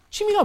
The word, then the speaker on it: 취미: 취미 is a little bit hard because foreigners don't pronounce it quite as they should. They get Double lazy. vowel. Exactly. It's a double vowel.